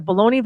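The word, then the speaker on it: bologna: King but it was you could get a baloney Vita and egg biscuit what yeah uh only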